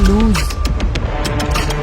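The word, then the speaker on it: lose: इनकी प्रोनाउंसिएशन में थोड़ा सा फर्क है। जो लूज है उसके आखिर में स की आवाज निकलती है और दूसरा जो लूज है उसकी आखिर में ज़ की आवाज निकलती है।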